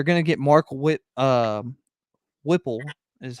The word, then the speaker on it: Whipple: the thing they're gonna get mark wit um whipple is how you say his last name as